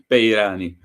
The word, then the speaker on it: Peyrani: Peyrani. Peyrani.